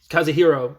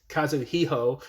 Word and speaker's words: Kazuo: after last episode where kazuo is kaziro I keep I'm getting the name wrong cuz it's Kazu hero but it's kazuo uh is showing Marie